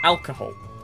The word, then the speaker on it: alcohol: magnetic the answer here one alcohol stress is on the first syllable I was gonna say